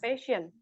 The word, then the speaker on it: patience: patience. Patience. Jadi CE-nya dibaca juga. Patience.